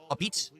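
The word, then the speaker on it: apizza: Yes, I've had New Haven-style pizza before, called a Pete's. That's how you pronounce that. It's spelled a pizza, but it's pronounced a Pete's.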